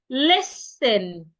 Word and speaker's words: listen: Listen. The rule says when you have letter S before letter T, sometimes not all the times, the T should be silent.